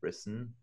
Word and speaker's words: brissen: In Yiddish, it's brissen, with an N sound at the end, brissen, like bris and brit are the same word with a different accent.